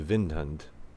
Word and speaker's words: Windhund: probably already have the Windhund by now. Or if we're going to be trying to be proper with our pronunciation to be a Vindhund.